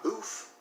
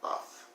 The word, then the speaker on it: buff: We know it's not boof because it's got two F's at the end, so it has to be the short sound. Buff.